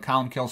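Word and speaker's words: Colm Cille: uh there's a three types of martyrdom okay column kill it's you know it's here's how it's spelled but Colin kills how it's pronounced he lived from about 540 to 614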